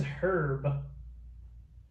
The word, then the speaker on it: Herb: How to pronounce Herb Alpert's name? Herb, without the H.